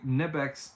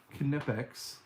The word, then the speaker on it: Knipex: What do I think of the Knipex, or sorry, gotta say it right, Knipex adjustable pliers?